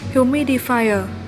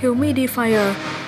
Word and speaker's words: humidifier: 3 được đọc là humidifier. Trong đó thì ở danh từ số 3 là humidifier thì chúng ta nhấn ở âm 2 nhé.